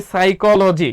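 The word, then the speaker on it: psychology: ওকে, যেটাকে আমরা বলি সাইকোলজি। কি বলি? PSY, দেখো সাই, হ্যাঁ সাই কলো, CHOLOGY, সাইকোলজি, যেটাকে আমরা পিসি চলো যাই, আমরা ছোটবেলায় শিখতাম হচ্ছে পিসি চলো যাই, ঠিক আছে।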